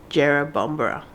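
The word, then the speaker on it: Jerrabomberra: I'm still in my pajamas to go to jera bombra we had to look up how you pronounce it Jero bombra to go to parkrun this morning you excited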